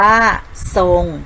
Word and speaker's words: ทรง: ทหาร และ ร เรือ นะ คะ เวลา อ่าน จะ ออก เสียง สอด โซโล นะ คะ เช่น คำ ว่า จะ ทรง อ่าน ว่า ส่ง นะ คะ ออก เสียง ซอ โซ่ นะ คะ ต่อ ไป เรา